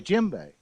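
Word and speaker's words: djembe: was a jimbei okay jimbei the d is silent tell me about that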